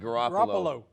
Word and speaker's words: Garoppolo: Garoppolo.